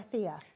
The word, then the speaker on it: Tia: And it's a Tia or Thea? It's Tia.